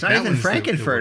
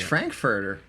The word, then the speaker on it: Frankfurter: to rhyme with, so I can't pick Frankenfer. It's Frankfurter.